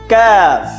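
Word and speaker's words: كاف: ঠিক আছে বন্ধুরা, ক্যাফ। ঠিক আছে বন্ধুরা, কফের উচ্চারণটি একটু মোটা হবে আর কাফের উচ্চারণটি পাতলা হবে।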